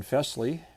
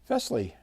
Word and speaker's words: Fesley: reached out to us fley or fley and I did ask the company how they pronounce their name and he said it sounds like Elvis Presley or Presley so I'm going with